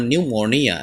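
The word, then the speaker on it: pneumonia: ফি silent word, অর্থাৎ বিভিন্ন ওয়ার্ডে ফি লেটারটি যে সাধারণত সাইলেন্ট থাকে তার কয়েকটি ওয়ার্ড আমরা এখানে নিয়েছি। চলুন আমরা শুরু করি। যেমন নিউমোনিয়া, নিউমোনিয়া ফুসফুস প্রদাহ।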